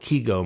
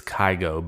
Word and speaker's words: Kygo: you pronounce his name i think the european nations go with kego most often and then over in the american nations it's kygo but i want to